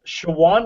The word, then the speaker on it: Shawan: It's in Hunt Valley, Maryland, Cockeysville area, and it's right on Shawan Road. It's spelled S-H-A-W-A-N, Shawan Road, right between Interstate 83 and York Road, Route 45.